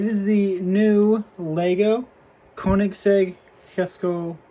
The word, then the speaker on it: Jesko: the new Lego kic Hesco absolute or Jesco whatever you want to pronounce it I've heard it officially called the hisco so that's what I'm going to call it assuming I'm pronouncing it right but this is the